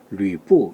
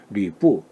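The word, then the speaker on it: 呂布: 여포는 어떻게 발음? 류뿌 이렇게 하죠. 뿌라고 발음. 류뿌. 그래서 이렇게 표기를 한다.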